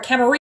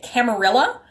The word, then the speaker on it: Camarilla: hear people say it Camarilla, which is weird because those are both places where there's francophones, where the double L sound is actually pronounced like a Y, because the word is Spanish, referring to that coterie